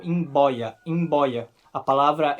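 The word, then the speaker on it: mboia: ao português por exemplo imb boia imb boia significa cobra e nesse caso o b é é bilabial in boia em boia a palavra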